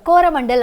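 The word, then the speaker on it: Coromandel: British people have pronounced the names of the places wrongly. They couldn't pronounce 'Zha', and they termed 'Chozhamandalakadarkarai' as 'Koramandalakadarkarai', which got changed to Koramandal over time.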